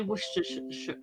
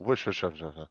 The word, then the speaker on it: Worcestershire: And the way you say Worcestershire, I can't even say it, but Worcestershire.